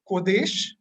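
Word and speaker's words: קודש: The Hebrew word for holy is pronounced as kodesh, which means apartness or set apart or separate or sacred.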